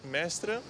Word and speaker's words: Mestre: coppia di fidanzati olandesi che però soggiorna a Mestre. One day here and we are staying in Mestre. If I pronounce it good.